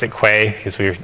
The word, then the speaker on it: Quay: You can imagine that these containers can be built automatically using a CI system, and like we have we pronounce it Quay because we're not familiar with the word, but